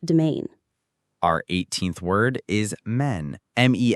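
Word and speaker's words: mesne: Our 18th word is men. Mes s ne as in men prophets. Men. The IPA is mean. The s is completely silent.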